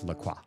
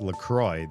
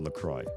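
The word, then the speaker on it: La Croix: It's pronounced Lcroy. The inventors pronounced it based on the pronunciation of the river, which is a misprononunci misprononunciation of the French word for the cross. It's a river with a cross shape or whatever. Um, but the drink they say even their tagline, their motto for the drink is it rhymes with joy.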